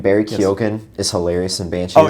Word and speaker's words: Keoghan: Barry Keoghan. Keoghan. Barry Keoghan is hilarious in Banshees.